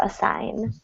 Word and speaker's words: assign: number two assig ass the G the g is silent in this one it's a strange one so a sign a sign G to